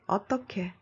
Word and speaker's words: 어떻게: Hãy cẩn thận với cách phát âm của '어떻게'. Nói .